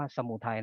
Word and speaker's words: สมุทัย: สอง ก็ คือ สมุทัย อ่าน นี้ อ่าน ว่า สมุทัย นะ เด็ก นะ ก็ คือ